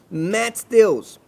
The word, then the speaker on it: Matheus: A pronúncia correta desse atleta deve ser Matheus, Serginho, por isso os 2 T's.